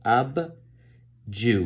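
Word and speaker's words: Abdju: it so you know this is to be read as AB not murder because that's the other way you can write or pronounce this so AB Jew which is a rolling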